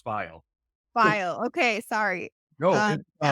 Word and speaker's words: Fiel: I'm very excited today because we have a very special guest. Hi. How are you? Hey, good. Um, I know it's recording, but it's actually pronounced file.